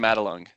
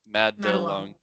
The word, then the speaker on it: Madelung: How do you pronounce it? Oh, it's actually Madelung. Madelung.